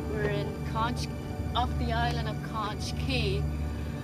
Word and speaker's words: Conch: As I found out later, Conch Key is pronounced with a hard K sound.